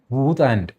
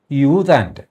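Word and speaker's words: U Thant: വാസ്തവത്തിൽ അങ്ങേരുടെ പേര് ഊതാാൻഡ് എന്നാണ്. ഊതാൻ എന്ന് കേൾക്കുമ്പോൾ മലയാളത്തിൽ ഒരു ശോഭ കേടല്ലേ ആ പേര് കേൾക്കുമ്പോൾ ആൾക്കാര ചിരിവരും ഊതുക എന്നൊക്കെയുള്ള മട്ടിൽ ഊതാൻ എന്നായി പോകും അതുകൊണ്ട് നമ്മുടെ പത്രങ്ങളെല്ലാം അതിൻറെ ഉച്ചാരണം യൂദാൻ എന്നാക്കി മാറ്റി അതിനുമുമ്പ് യുഎൻ സെക്രട്ടറി ജനറൽ ഡാഗ്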